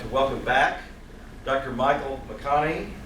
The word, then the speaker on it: McConachie: welcome back Dr Michael mcconnie pronounced like the actor's name and the actor spelled his name wrong um Dr bakani is